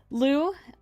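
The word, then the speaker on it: Lö: They're the one drawn with Lou in that other in the little lion. His name is also Lou, but it's spelled L with the O umlaut, so it's like Lo.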